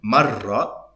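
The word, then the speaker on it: مَرّة: And then she says, the woman, notice the difference, mara, woman, marra, time as an instance, marra ala marra.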